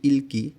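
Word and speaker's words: 읽기: এখানে উচ্চারণ উচ্চারণ হবে ইলকি অর্থ রিডিং প্রশ্ন এখানে ইলকি উচ্চারণ করতে হবে রিউলটা খুব সাধারণভাবে উচ্চারণ হবে এবং পাশের যে ভাতর গিয়কটা এটা পরবর্তী গিয়কের সঙ্গে গিয়ে ক উচ্চারণ হবে এই কারণে এখানে উচ্চারণ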